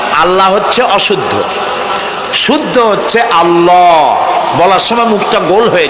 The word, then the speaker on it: আল্লাহ: আমার আকাশের দিকে আমার জমিনের দিকে আল্লাহর নাম আল্লাহ বলেন তো আল্লাহ নয় কিন্তু আল্লাহ হচ্ছে অশুদ্ধ শুদ্ধ হচ্ছে আল্লাহ বলার সময় মুখটা গোল হয়ে যাবে বলেন তো